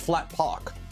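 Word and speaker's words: Flaatpawk: nfds from Butters yeah it's pronounced Flat Park yeah f-l-a-a-t-p-a-w-k how many tips were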